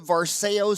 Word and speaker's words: Varseo: And you're calling it the Varseo Smile Crown and the Varseo Smile Temp? Right. Did I pronounce it right?